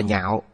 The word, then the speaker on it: nhạo: Chữ đọc là nhạo, nghĩa là ưa thích. Nếu đọc là lạc sẽ là vui sướng.